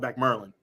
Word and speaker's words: Back Maryland: place called back merlin well it's called it's spelled back maryland but we call it back merlin with that beings that